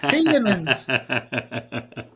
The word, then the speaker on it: Tielemans: Is it not Tielemans? How do you say it? Tielemans. Oh, there's no D in it.